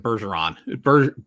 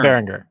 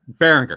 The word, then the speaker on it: Berenger: Tom Bergeron, I almost said Bergeron. Bering. Oh God, how do you say his name? Beringer. Yeah, Tom Berenger. Berenger.